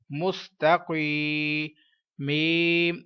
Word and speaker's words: مستقیم: گی۔ ہجے کرتے ہیں۔ میم سین پیش مس، تا زبر تا، مست، قاف یا زیر قی مستقی، میم زبر ما مستقیم، وقف مستقیم۔ آگے چلتے ہیں۔ ادھر